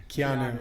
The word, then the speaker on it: Keanu: guy in the matrix canoe reeves yes that's not how you saw it say his name right keanu keanu canoe sorry buddy it's